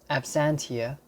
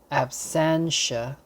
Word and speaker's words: absentia: The next entry, absentia, A-B-S-E-N-T-I-A, absentia. In American pronunciation, you will say absentia, absentia.